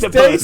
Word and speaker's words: Tactopus: after delays Tactopus. dating back to 2021, Zeno, launch on smartphone. Tactopus. Right. To be fair, I'm with him. I don't understand how that's pronounced Tactopus, but that's apparently what it is.